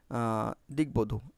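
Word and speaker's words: দিগ্বধূ: সেই বনের দত্ত হয় যেহেতু গ এর সাথে ব আছে তাহলে এই গটা আর দত্ত হবে না এই গটা গর থেকে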